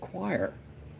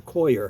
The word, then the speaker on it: coir: But what they did at this greenhouse where they propagated these, they just used coir, this stuff, or coir, however you want to pronounce it.